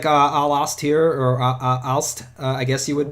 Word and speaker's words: Aalst: you have some towns like Aalst here, or Aalst, I guess you would pronounce it. But you said it right. Aalst, yes, okay.